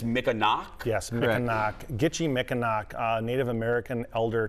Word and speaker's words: Mikinaak: the title The it's the Mick and I pronounced it wrong on the t's but it's Mick a knock yes a Native American Elder Tom um he